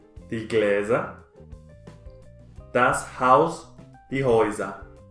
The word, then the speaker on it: Häuser: Gläser, das Haus, die Häuser. Cuando una sílaba es con A, U y umlaut sobre la A, la pronunciación es OI. Igual que una sílaba con E, U, que se pronuncia OI.